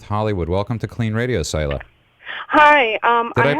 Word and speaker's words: Soila: Welcome to KLEAN Radio, Soila. Hi. Did I pronounce it correctly? Yes, Soila.